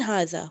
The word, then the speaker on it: هذا: Haza is pronounced as haza. Haza, okay. Yep. Haza is pronounced haza, but it is written without the first alif.